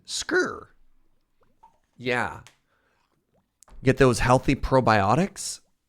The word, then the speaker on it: skyr: cheese alternative called scir skier SK k i r but you have to hit it with that Scandinavian pronunciation scre yeah get those healthy